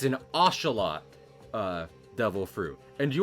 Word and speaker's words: axolotl: Well, I learned a while ago that apparently it's pronounced ocelot because it's derived from a... I mean, I might have been pranked, and now I'm like myself look like a butthole, but in the interest of trying to say things right and respect where the word came from, apparently it is properly pronounced ocelot.